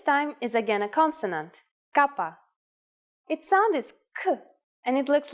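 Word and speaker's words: κάππα: is again a consonant Kappa and it looks like this here's an uppercase Kappa yes it's the same as the English k it is handwritten like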